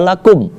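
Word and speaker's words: لكم: Thobi'i juga ya kemudian kalau kita singkat seperti itu dibaca lakum Kenapa tidak kita dengungkan padahal umumnya orang ketika ada mim mati Kebanyakan orang membacanya dengung Nah di sini yang perlu kita ketahui bahwasanya tak semua mim mati itu harus dibaca dengung tidak karena mim mati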